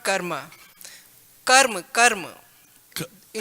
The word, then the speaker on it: karma: You said about the karma being very a different vague version in Western world. In Sanskrit, we pronounce this word karma, not karma.